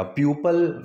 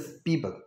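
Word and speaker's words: people: So very few पीपल, ठीक है, जिसकी प्रोनाउंसिएशन का आप ध्यान रखिएगा, प्यूपल नहीं होता है, दिस पीपल, ठीक।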